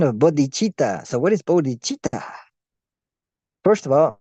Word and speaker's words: bodh: Bod first of all we must spell it uh according to the way it's spelled here uh b o d as in body but without the Y and then hi bod bod bod bod and that's a